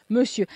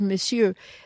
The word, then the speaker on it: monsieur: Monsieur. And maybe it's because it's spelled differently, because it's monsieur, you know, monsieur, but it's monsieur, monsieur. You don't say it like you see it.